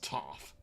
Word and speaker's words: Toph: So next up, by popular demand, is Toph. Because it rhymes with tough.